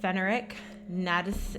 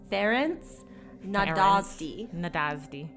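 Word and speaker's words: Ferenc Nádasdy: So at the age of 10, she is engaged to Fenric Nadis. How do you say? Oh, fuck. So she becomes engaged to Count Ferenc Nadasdy.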